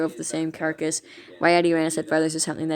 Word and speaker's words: Yutyrannus: Name Yutyrannus, Mandarin/Greek for feathered tyrant, pronounced Yutyrannus.